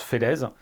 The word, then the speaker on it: Felez: Pour ceux qui ne me connaissent pas, je m'appelle Fellès, mais ça se prononce Fellez, sinon ça fait con.